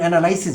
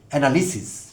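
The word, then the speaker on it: analysis: প্যারালিসিস শব্দটির সঙ্গে আমাদের পরিচয় আছে, প্রচলিত উচ্চারণে আমরা প্যারালাইসিস বলি, বাট ডিকশনারি সিদ্ধ স্ট্যান্ডার্ড প্রোনাউন্সিয়েশন হলো প্যারালিসিস। যেমন অ্যানালাইসিস বলি আমরা, সেটিও শুদ্ধ না, অ্যানালিসিস, ঠিক একইভাবে প্যারালিসিস।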